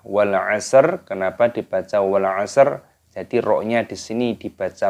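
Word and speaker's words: وَالْعَصْرِ: Wal asr. Wal asr. Perhatikan di sini ada alif lam qamariyah. Lamnya berharokat sukun, ini dimatikan, dibaca wal asr. Wal asr. Kenapa dibaca wal asr?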